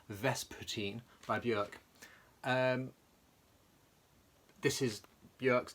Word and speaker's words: Vespertine: already because it is verse fourteen said it wrong Vespertine by björk this is